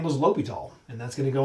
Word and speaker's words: L'Hôpital: but it is called l'hopital the h is silent in french so this is called l'hopital's rule who is it named after a guy whose last name was l'hopital and that's going to